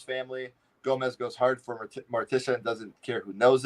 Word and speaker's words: Morticia: Gomez goes hard for Morticia and doesn't care who knows it.